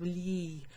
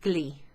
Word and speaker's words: gli: article we use okay g-l-i is pronounced kind of lee if you like it